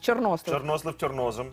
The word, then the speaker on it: чорнослив: я чорнослив До речі правильний наголос мій тато казав правильний наголос в чорнослив так і я завжди